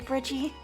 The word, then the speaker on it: Bridgie: Mint, I've let it slide until now, but could you please not call me Bridgie? Why? It rhymes with Pidgey.